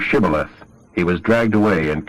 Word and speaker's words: Shibboleth: But if he couldn't pronounce the H and said Sibboleth instead of Shibboleth, he was dragged away and killed.